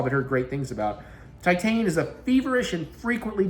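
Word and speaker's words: Titane: How do you pronounce that title? Titan. Okay. Not Titan.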